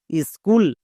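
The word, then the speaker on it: school: Next একই রকমভাবে এস সি H double O এল স্কুল।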